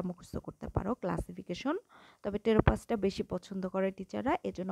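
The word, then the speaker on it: Pteropus: এটা হচ্ছে কাঠবিড়ালি ট্যাটাস স্ট্যাটাস এটা ইদুর আর টেরোপাস জাইগ্যেন্টিয়াস এখান থেকে পিটা কিন্তু সাইলেন্ট থাকে টি থেকে উচ্চারণ হয় এজন্য এইটা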